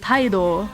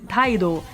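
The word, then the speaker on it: タイド: And the name in Japanese, it's pronounced Taido, right?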